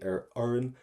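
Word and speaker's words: fhoireann: And then finally, the last part, tá mé oireann a. Now remember, before, we do not pronounce FHs in Irish. They are totally silent for you.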